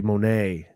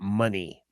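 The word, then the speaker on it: Moné: if you look at if you look at it on paper it's supposed be Monae uh not money she pronounces it money Mercedes money if you're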